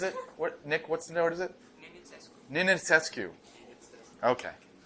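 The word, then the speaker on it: Nenițescu: Nenetscu, which I also don't know how to pronounce, apparently. What is it? Nick, what is it? Nenetscu.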